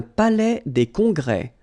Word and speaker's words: palais des congrès: Un palais des congrès. Final S here and here are not pronounced.